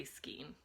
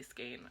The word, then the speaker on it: skein: the word specifically skeen because i say skeen i've heard it say skein i don't know it's probably skein i don't really care i'm probably gonna keep saying it wrong anyway i had two